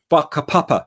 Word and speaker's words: whakapapa: So in Aotearoa in New Zealand, in Maori culture, they have a concept called whakapapa, spelt with a WH, whakapapa, which is their idea for lineage or genealogy.